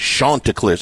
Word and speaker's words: Chanticleers: It's Chanticleers.